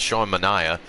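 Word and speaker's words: Manaea: hits on the day sean manaya apparently i had it pronounced it wrong as matt vasquez apparently corrected me as sean manaya takes the loss hector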